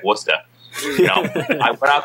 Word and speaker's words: Worcester: is learning all these names being able to pronounce things like wora you know I went out to W it